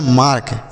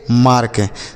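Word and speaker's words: mark: उसके बाद एम ए आर के, ये लिखा गया मार्क, एम ए आर के मार्क। तो यम से म, ए से आ की मात्रा करेंगे, क्यों करेंगे, क्योंकि ए के बाद आर है।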